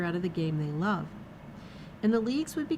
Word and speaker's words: LOVB: LOVB, pronounced love with a silent B, has attracted a number of celebrity investors, including Kevin Durant, Chelsea Handler, Amy Schumer, and Billie Jean King.